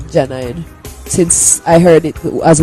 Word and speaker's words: Jah9: Well, Jah9 is my name on my birth paper. Jah9. So it's spelled out Janine.